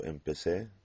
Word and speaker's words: empecé: pronounce it incorrectly, but I told you that Z sounds like S. So it doesn't sound like a Z in English, it sounds like S. Yo empecé, tú empezaste.